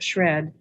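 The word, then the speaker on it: SR&ED: and experimental development program well known by its acronym pronounced shred is among the world's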